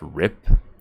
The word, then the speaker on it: RIP: the derogatory use of rest in peace is pronounced rip it usually refers to